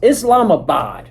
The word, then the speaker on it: Islamabad: It's Islamabad.